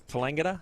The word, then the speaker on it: Tallangatta: She's actually a Tallangatta girl, so comes from country Victoria. It's Tallangatta. I think Neil Macdonald struggled with that a little bit in the pronunciation from the first game.